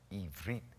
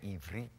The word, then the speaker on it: Ivrit: Ivrit. Say Ivrit. You got to catch your tongue between your teeth. Ivrit. And you'll say it right.